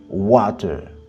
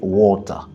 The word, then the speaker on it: water: Si tu dis water, tu parles l'anglais américain. Par contre, il y a une autre prononciation qui est water. Ça, c'est l'accent typiquement britannique. Donc, que ce soit water ou water, il n'y a pas de faute. C'est juste une question de style.